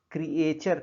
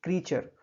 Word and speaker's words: creature: ध्यान दीजिए, इसका प्रोनाउंसिएशन क्रिएचर करते हैं कुछ लोग, जो कि गलत है. ये होना चाहिए क्रीचर.